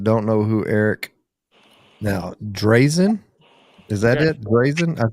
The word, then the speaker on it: Drazin: great uncle, he's like, back in Yugoslavia, that's how it would be pronounced, as Drazin. But it sounds really pretentious. So I'm like, it's Drazin.